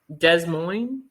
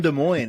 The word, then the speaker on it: Des Moines: Des Moines?